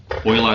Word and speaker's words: Euler: Euler is how I pronounce it.